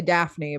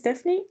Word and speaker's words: Daphne: All right, we'll turn it over to Daphne. Is that how you pronounce it? Yes, It's different. Here we would say Daphne, but that's American. she's Dutch. Hey, my name is Daphne.